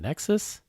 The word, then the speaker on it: nexu: excited about seeing the nexus is that how you say his name then the nexu the nexu i think nexu my bad uh i actually just